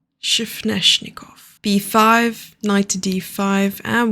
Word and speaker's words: Sveshnikov: It has taken me ages to learn how to pronounce that word, and I'm pretty sure that I'm still not nailing it. Sveshnikov. Shifneshnikov.